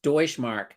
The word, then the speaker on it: Deutschmark: Um, Deutschmark. Oh, and then Jill says it's pronounced Deutschmark. I'm just going to try to avoid ever saying that word again if I can help it.